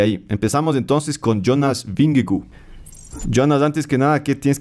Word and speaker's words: Vingegaard: Jonas bingo Por cierto nosotros decimos bingle porque no binglegart por una porque unos británicos entrevistaron a él y le dijeron Cómo se pronuncia tu nombre y dije y el hijo se pronuncia Jonas bingley entonces bueno cada una